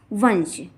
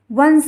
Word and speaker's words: वंश: और दूसरा शब्द है हमारा वंश। जब शब्द के बीच में अर्थात पहले वर्ण के ऊपर यदि बिंदी होगी और उसके बाद भी अगला अगर वर्ण होगा तो हम उसका उच्चारण ना करेंगे।